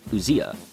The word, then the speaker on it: ousia: I'll actually pronounce it Greek style to differentiate ousia.